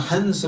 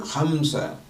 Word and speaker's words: hamsa: So hamsa, not hansa but hamsa. Although in regional language in India they call it hans, but then it's hamsa.